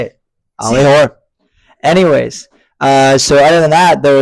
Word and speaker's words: Hoare: He's like, it's whore. Just say it. Hoare. Hoare. I'm just gonna say it. Ollie Hoare.